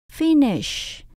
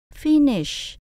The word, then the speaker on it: finish: Chữ phí phải cao hơn chữ nish. Finish, finish.